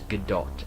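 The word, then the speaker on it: Gadot: I've heard her pronounce her name in any views it is G do everyone calls her good do cuz it sounds what it should sound like but she calls it g do so that's what it's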